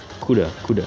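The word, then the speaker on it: 'Cuda: CUDA. That's how it pronounced.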